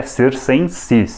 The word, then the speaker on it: circenses: enses mas tudo bem se a gente falar panis ET circenses aliás às vezes aparece grafado como csen ses mas o correto segundo a gramática Latina é csen sis nesse vídeo aqui não